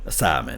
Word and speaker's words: salmon: But salmon, the L is silent, I guess.